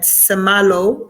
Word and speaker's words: Semalho: It's at Semalo. It's spelled SEMALHO.